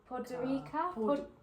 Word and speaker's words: Podgorica: We got the flight, and then we landed in, how do you pronounce the main city name? Podgorica.